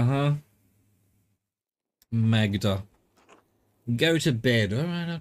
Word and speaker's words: Magda: It definitely pronounces the G then. Maga, huh? Magda.